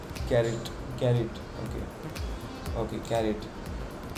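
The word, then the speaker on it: caret: do you pronounce this you pronounce it like carrot carrot Okay Okay carry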